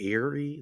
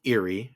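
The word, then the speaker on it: Eyrie: So switching to the Erie, is it the Erie? Is that how you pronounce it? Luke, you're the Yep. expert. Okay, so switching to the Erie, and that's where Rhaena and Joffrey and the baby Targaryens are, right?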